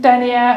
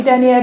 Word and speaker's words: denier: there's some there like 10 dener or 20 denier depending on the season and denier is a word for the thickness of tights but it's spelled D n i e r the same way as climate change denier and I don't know